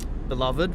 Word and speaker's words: Beloved: Beloved, we pronounce it.